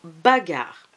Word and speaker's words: bagarre: Combien de syllabes pour ce mot bagarre? Deux syllabes. Quelles sont-elles ces syllabes? Il y a ba et il y a gare, exactement.